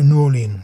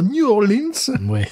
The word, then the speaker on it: New Orleans: Et sa façon savoureuse de prononcer New Orleans. Voilà, pas de S à la fin, si vous voulez faire le local.